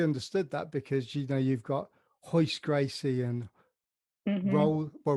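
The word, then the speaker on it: Royce: Yeah, the H is the correct way to pronounce it in Portuguese, but then there's actually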